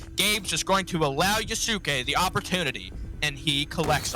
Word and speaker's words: Yusuke: is going to allow Yusuke the opportunity, and he collects on it. Okay, so I just need to mention this because Chad is telling us it's pronounced Yusuke. Okay. Not Yusuke. Yusuke.